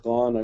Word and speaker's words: Gone: Myself, Gone, I pronounce like Gone with the Wind, as a technical sales rep.